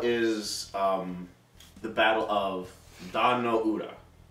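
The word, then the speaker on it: Dan-no-ura: um the Battle of Don no Ura that's how you pronounce it yeah I was like Don Ura from Star Trek um it was the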